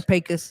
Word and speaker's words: Pecos: You say Pecos. I say Pecos.